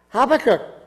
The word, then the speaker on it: Habakkuk: Now, this week, it's the prophet Habakkuk, which you did a great job, Cheryl, of pronouncing that.